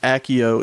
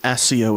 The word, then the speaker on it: Accio: Well, depending on if you are a book person or a film person, it's pronounced Accio in the movies and Accio in the books.